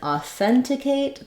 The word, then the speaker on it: authenticate: have a different rhythm in authenticate the stress is on the th syllable and uh it has a clear vowel there and in authentication the